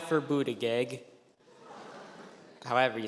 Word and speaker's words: Buttigieg: For future reference, it's pronounced Buttigieg, That's helpful, thank you.